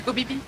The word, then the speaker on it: Koh Phi Phi: une île qui s'appelle copipi ou kofifi mais ça s'écrit pH mais ça peut être que kopipi he bah oui bah c'est copipi on va copipi je